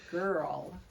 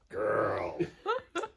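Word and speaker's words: Grrl: And this is Girl. Hello. That's spelled G-R-R-L. Girl.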